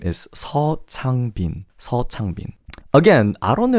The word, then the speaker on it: Seo Changbin: Instead of CO, don't say CO. Just say Seo. And then instead of Chang, the issue is again the CHA. You see the same thing with Bang Chan and Changbin. Don't make the CHA sound too strong.